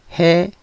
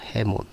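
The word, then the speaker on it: ἡμῶν: 강기식이 없을 때는 원래 모음에 이응으로 넣어서 애로 가지만, 강기식이 붙어 있는 경우에는 히읗이 요 자리를 대체해서 해몬 돼 있죠. 해몬.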